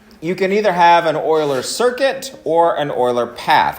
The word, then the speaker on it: Euler: it's named after a famous mathematician and it's pronounced euler even though it looks like euler okay and